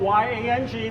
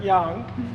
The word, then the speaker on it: Yang: name is young it is spelled y-a-n-g but i pronounce it young so if anybody calls